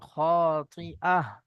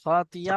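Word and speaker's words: خاطئة: জি, খাতিয়া বললে কি ভুল হবে? খাতিয়া বললে এখানে ইয়া উচ্চারণ হয়ে যাচ্ছে, এখানে ইয়া উচ্চারণ হয়ে যাবে, কিন্তু আছে এখানে হামজা।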